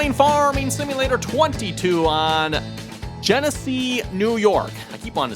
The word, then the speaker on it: Genesee: It's pronounced like or looks like Tennessee just spelled with a G instead of a t anyway we got some